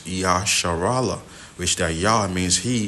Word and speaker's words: Israel: Because these are supposed to be your true princes, because the word Israel, or the true Hebrew pronunciation of it is Yasharala, which that Yah means